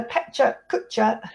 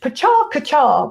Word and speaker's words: Pecha Kucha: And it was what's called a Pecha Kucha speech, which I discovered is Japanese for chit chat and actually should be pronounced Pacha Kacha, but I don't think anybody in the UK pronounces it that way.